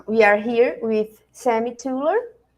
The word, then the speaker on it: Thuilier: are here with Sami tuler it's right tuler the the pronunciation Sam it's not easy hi Carolina uh it's it's TR it's a French name but uh it's really